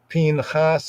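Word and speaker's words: פִּנְחָס: So Judaically wise, many would pronounce his name as Phinhas or Phinhas. Phinhas, right?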